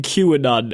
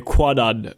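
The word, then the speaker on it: Kwannon: also doing a very good job not saying Qanon every time you say Quanon just to let you know about it's actually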